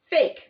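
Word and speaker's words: PHEIC: emergency of international concern p-h-e-i-c pronounced as fake the secret negotiations aim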